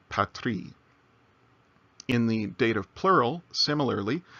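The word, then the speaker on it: πατρί: So it's not pateri, it's patri.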